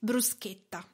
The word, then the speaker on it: bruschetta: important thing now is the pronunciation how to spell it Bruce guitar is B R u s CH e TT a so it is not bruschetta why you must